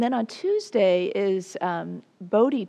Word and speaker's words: Bodhi: on tuesday is um bodhi day which is bowdy day actually is how you say it um which is